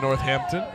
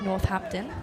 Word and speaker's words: Northampton: of mine out of Northampton a familiar face for some of us in the booth it's actually pronounced Northampton sorry love oh my mistake I have to work on M British pronunciation as warsop faces 0